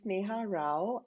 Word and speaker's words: Neha Rao: having me here um my name is neha rao it's spelt and pronounced the same way um and i am